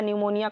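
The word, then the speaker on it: pneumonia: यह मैंने पढ़ा था निमोनिया कापी साइलेंट है और ऐड करें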